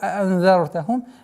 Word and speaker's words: أَأَنذَرْتَهُمْ: Саваун алейхим аанзартахум. Две буквы хамзы нужны четкие, полные, ясное произношение. Аанзартахум нет. а'анзартахум. И здесь применяем сокрытие в размере двух огласовок.